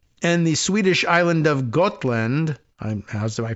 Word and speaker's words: Gotland: the Swedish island of Gotland. How's my pronunciation on that one? Gotland. Like got milk, but land, right?